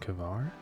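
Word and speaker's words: hvar: that word Icelandic things the letter combination HV and Icelandic words sounds like HV R and HV a r the V actually turned the H into a k sound so they pronounced cver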